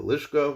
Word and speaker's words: lishka: Hamikdash known as the lishka, which literally means a chamber. Lishka rhymes with pishka, from which money would be taken to buy the animals and other items used in the karbanos.